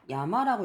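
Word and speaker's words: 山: 훈독은 의미로서 쓰이는 거, 야마라고 읽습니다. 이 한자는. 그리고 우리나라도 산이라고 읽죠. 이 한자를. 그래서 똑같이 상이라고 읽습니다. 그래가지고 야마 자체로는 그냥 산이라는 의미로 쓰이는 거고요.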